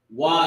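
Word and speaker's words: וְ: Wa at the beginning of a root word. All right, it's pronounced wa.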